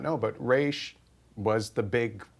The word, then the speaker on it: Ra's al Ghul: There's two schools of thought about how you say his name. This is such name. a debate. So But- you say Raish. I say Raish.